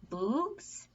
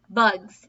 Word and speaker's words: bugs: "Bugs," he said. "Good," said Stanley. "Remember, it's a short U if there's no E at the end."